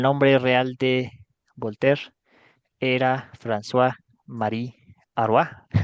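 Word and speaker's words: François-Marie Arouet: real de volter era franois Marie ar así se pronuncia en francés y no sabemos muy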